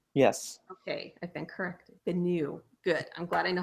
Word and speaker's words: Bennu: Bennu.